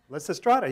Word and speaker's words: Lysistrata: Lysistrata, yeah, of course.